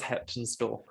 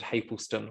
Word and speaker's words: Heptonstall: That was Heptonstall. And I said Hapleston, which is all of the right syllables in the wrong order.